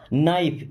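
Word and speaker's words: knife: This नाइफ is sharp, this means यह, नाइफ यहाँ पे के साइलेंट होता है, ठीक है।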